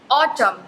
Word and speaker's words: autumn: और आपको पता है इसमें N साइलेंट होता है, AUTUMN, जहाँ भी MN आ रहा होता है साथ में तो उसमें जो है वो N साइलेंट होता है, AUTUMN ऑटम।